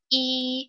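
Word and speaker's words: 一: which means one and usually it's pronounced e and takes the first tone however when e is followed by a fourth tone or a fifth tone it's going to change into the second tone so something that was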